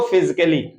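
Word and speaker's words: physically: म्यूजिकली, इसको म्यूजिकली, इसको फिजिकली। इस प्रकार के यही शब्द नहीं, कोई भी शब्द हो सकता है, यानी डबल एल वाई के पहले अगर ए आता है तो हमारा ए हमेशा साइलेंट होगा।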